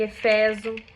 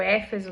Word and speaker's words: Éfeso: Então, em Tessalônica, em Eféso, ou Éfeso, né, depende do como a pessoa quer pronunciar, em Filipo.